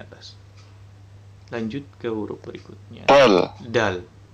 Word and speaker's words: دال: Dal. Dal. Makhraj huruf dal adalah punggung ujung lidah mengenai pangkal gigi seri atas sambil mengenai gusinya.